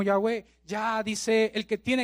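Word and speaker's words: Yahweh: existencia en sí mismo una abreviación allá web lo que podemos pronunciar como ya ve ya dice él que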